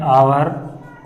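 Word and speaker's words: hour: है तो भी हम, जब किसी वर्ड में एच साइलेंट रहता है तो भी हम आर्टिकल एन का प्रयोग करते हैं, एन का प्रयोग करते हैं। जैसे एग्जाम्पल में हम लिखे हैं, एन आवर comma N honourable man comma N एयर।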